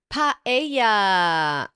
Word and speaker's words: paella: Paella is the right way to say it. Paella. So it's pa and then ella.